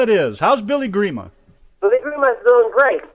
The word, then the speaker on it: Grima: in Canada we call agreement all right prima Grima it is how's Billy Grima believe we must feel great relaxing uh just